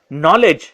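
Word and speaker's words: knowledge: अब नॉलेज पर सब पढ़ेंगे क्या का नॉलेज, क्योंकि हमें तो हर चीज को पढ़ने की आदत है, पर एन के आगे अगर के लग जाता है के साइलेंट होता है।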